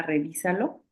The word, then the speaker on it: revísalo: Eh, Revísalo, o sea, en la I, que es esdrújula. Ajá, es esdrújula porque su sílaba tónica es la antepenúltima y todas las esdrújulas llevan acento.